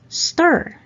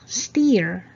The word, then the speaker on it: stir: confirmed but we all know that the right pronunciation is confirm number five stir stir hindi pusha steer stir pot unless you number six mountain mountain